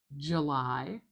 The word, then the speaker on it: July: July Listen again. July This is a very typical pronunciation of this month.